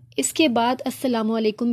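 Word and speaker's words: السلام: alarm जरूर डालना है अल सलाम लिखा जाता है लैंप स्किप कर देंगे तो इस्लाम बन जाएगा जो की नहीं लिखना नाम साइलेंट है लिखा जाएगा पढ़ा नहीं जाएगा और वह नहीं डालना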